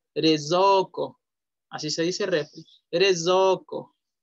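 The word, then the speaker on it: れいぞうこ: No vamos a decir reizouko, reizouko, no. Re, la E y la I es E. So, la O y la U se pronuncia O y ya ko. Rezoko.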